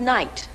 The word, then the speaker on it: night: It's the word night. I know it sounds like N-I-T-E, but we spell it N-I-G-H-T, night.